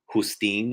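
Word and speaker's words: Justín: or Gabriel okay but it's actually Justine is is spelled j-u-s-t-i with an accent n Gabriel so it's it's Spanish technically but I I really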